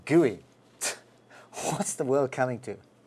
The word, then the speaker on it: GUI: the graphical user interface or GUI pronounced gooey what's the world coming